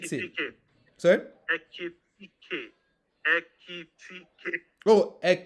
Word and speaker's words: Ekitike: Because Ekikite. Ekitike. Sorry. Ekitike. Ekitike. Oh, So it's Ekitike. Ekiti, and then you add K.